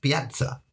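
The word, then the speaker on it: piața: So the word for square in Romanian is pa p i a t a but when they pronounce it it's pronounced patza and then there was lots of dea.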